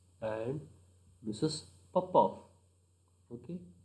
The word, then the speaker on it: Popov: Popov. Okay, pronunciation Smirnov and Popov.